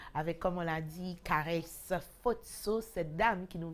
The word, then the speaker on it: Kareyce: Donc, je disais qu'elle s'appelle Caresse Fotso, ça s'écrit Kareyce pour Caresse Fotso, camerounaise, en belle ouais.